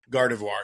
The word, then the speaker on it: Gardevoir: Gardavore. Gardavar. Gardevoir.